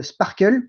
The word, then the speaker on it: SPARQL: outil en plus généraliste qu'on appelle le sparkle ou sparql s'il est prononcé en français et donc sparkle c'est